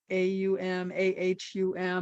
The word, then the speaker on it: Om: AUM.